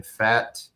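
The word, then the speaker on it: Pfaadt: Game two Tuesday will be Casey Mize against Brandon Fatt. Um the P is silent.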